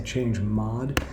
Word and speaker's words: chmod: I'm not sure how people pronounce that. I say change mod, but it stands for change mode.